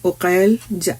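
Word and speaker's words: عقيل: उनके नाम ता तालिब अकी तालिब उकैल या अकील और उकैल दोनों तरह से प्रोनाउंस किया जाता है।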